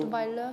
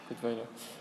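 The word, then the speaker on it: Cottweiler: Codewiler, comment ça s'écrit? C'est C-O-T-T. Bonsoir. W-E-I-L-E-R. Codewiler.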